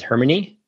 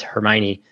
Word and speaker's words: Hermione: Harry Potter came out everyone was pronouncing uh Hermione as hermony and a ton of different variations uh and if she wanted JK Ron could just go in there and say oh no it's Hermione and then it would